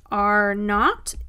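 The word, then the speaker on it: R₀: So this R sub 0 is pronounced R naught.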